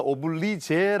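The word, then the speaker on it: oblige: 회자 되어지는 프랑스 영혼인데 노블레스 오블리주는 발음에 따라서 오블리제 아고 발음하기도 합니다마는 프랑스어로 노블레스라이트 있니다네 오블리주는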